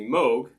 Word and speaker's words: Moog: by don vukla whereas the moog that's the correct pronunciation was designed by by bob moog also by john you